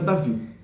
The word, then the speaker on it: David: Por exemplo, meu nome é Davi, tá escrito David, mas eu sou chamado Davi, né?